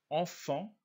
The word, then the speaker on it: enfants: bien comprendre ce sont 1 la france blanc enfants le manteau la danse l'enfant une dans le